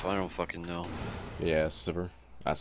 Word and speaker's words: Sivir: Yeah, Sivir. That's how I pronounce Sivir.